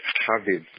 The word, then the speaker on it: Chaviv: It's Chaviv, pronounced K-A-V-I-V. V-I-V-A is feminine. That's Chaviv, as in V-I-V.